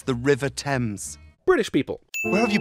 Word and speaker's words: Thames: back in the day you can't just say tames because it rhymes with ames it's the river thames british people where have you been why the